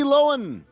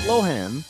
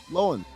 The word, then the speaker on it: Lohan: Number three, Lindsay Lohen. Not Lohan. Yep. Loen.